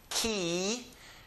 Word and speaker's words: quiero: And that's why we say quiero, because the first three letters are pronounced as ki.